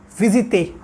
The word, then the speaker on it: visiter: Now, let's pronounce these verbs one by one. So the first verb is visiter.